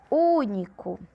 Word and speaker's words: único: Único. Único. Qual é a sílaba tônica? U. Proparoxítona porque é a antepenúltima.